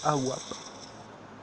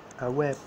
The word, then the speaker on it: AWP: Parce que le AWP, ça se prononce AWAP. AWAP.